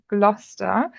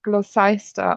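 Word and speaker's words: Gloucester: and I remember now it was gluster that I thought was pronounced glossa or something completely silly like that but very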